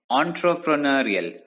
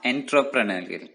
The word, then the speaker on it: entrepreneurial: entrepreneurial leadership once again the word is pronounced as entrepreneurial not intrapreneurial entrepreneurial leadership involves organizing and